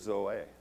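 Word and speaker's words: ζωή: He used the word zoe, Z-O-E, with an accent on the E.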